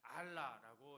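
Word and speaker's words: עָלָה: 알라라고 이렇게 발음하는데요.이 말은 단순히 장소를 옮겨간다는 뜻이 아니라 아래에서 위로 올라간다.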